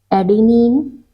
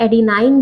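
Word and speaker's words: adenine: Pronunciation का अंतर है, एडिनाइन भी पढ़ते हैं, गुआनाइन भी पढ़ते हैं, और मतलब आप थाइमाइन भी पढ़ते हैं कुछ लोग, तो ये प्रोनाउंसिएशन का डिफरेंस है। इन जनरली क्या होता है,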